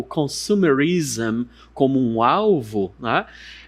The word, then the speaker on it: consumerism: Quando nós temos esse sufixo nas palavras, ISM, nós vamos pronunciar desta forma aqui. Isso aqui são os símbolos fonéticos. Eu vou pronunciar assim, ism, ism. Ou seja, consumismo, eu falo consumism, ism.